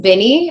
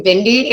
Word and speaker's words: Bini: And I should also say, Penny, it's pronounced Bini. I heard you say Bindi, and so there's no D.